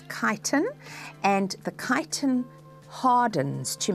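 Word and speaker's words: chitin: The substance that makes that exoskeleton is called kiten. All right, there's the spelling of the word. Don't um don't mispronounce it. It's not chitten, it's kiton.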